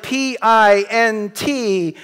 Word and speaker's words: pint: read English most of you has words like P int which should be by rule pinned but is pronounced pint so English is not so transparent